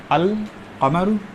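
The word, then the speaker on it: القمر: लोग तवज्जो नहीं देते तो इसको हम लोग कैसे पढ़ते हैं अल कमर ठीक है यानी लाम प्रोनाउंस हो रहा है ठीक है और इसको हम कैसे पढ़ते यहां आपकी तद आ जाती है ठीक है तो यह लाम प्रोनाउंस नहीं होता अ शमश पढ़ा जाता मुम है ना फेमस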